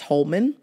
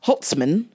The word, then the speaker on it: Holtzman: fighter Scott sauce and Scott hot sauce Holman and let me say it right it's got hot sauce Holtzman and you can do